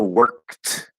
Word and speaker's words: worked: voice th but also worked right it's spelled with ed but it's just a t sound worked right because the k is voiceless so the e d ending is just a t so i work